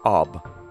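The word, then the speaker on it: אב: alphabet the ALF and the bet it is pronounced AB its corresponding Aramaic word is probably a little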